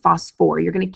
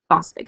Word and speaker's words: phosphoric: not suffolk acid and h3po4 is going to be phosphoric acid not Bostic acid when we're talking about